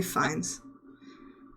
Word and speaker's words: Fiennes: Phineas? Ray Oh, Fiennes.